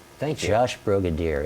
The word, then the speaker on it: Brogadir: it's easy to say because Brogadir is like Brigadier, if you know a Brigadier Yes. General. Just make it with an O sound.